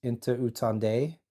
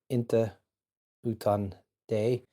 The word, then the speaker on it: Inte utan dig: This is actually a Swedish version, and you would pronounce that as Inte utan dig. Inte utan dig.